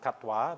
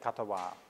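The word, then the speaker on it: katvā: in between it so in Thai pronunciation they usually put a vowel between them so be Tava so so where Pali is katwa they would say katawa but actually in that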